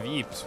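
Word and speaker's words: Ypres: a town and ruins dubbed wipers by British troops due to its difficult pronunciation the Belgian town of Eeps was a key strategic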